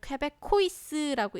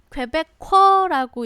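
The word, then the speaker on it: Québécois: The Quebecois라고 읽지 말고 요렇게 읽습니다. 퀘베커라고 요 봐봐.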